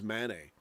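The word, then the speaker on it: Mané: back to saying sadio Mane because I checked the actual sound how to pronounce it apparently it is Manet but I was trying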